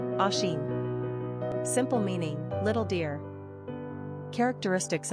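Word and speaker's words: Oisín: number of syllables two ranking popularity not applicable pronunciation Asen simple meaning little dear characteristics of oison social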